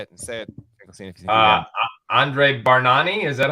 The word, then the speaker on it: Bargnani: Andre Bargnani, is that how you say it? Bargnani, yes.